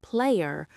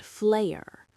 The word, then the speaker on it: Flayer: The first interesting fact is that its name is not player but flare. Because the pronunciations are similar, Korean fans confused the two for many years. But the correct name is Flare with an F, not a P.